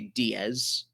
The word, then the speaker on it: Diez: There's like smaller kana that above the X say Diez.